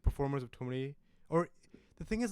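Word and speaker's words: thumri: So semi-classical music becomes tumri or tumri. Tumri is the right pronunciation.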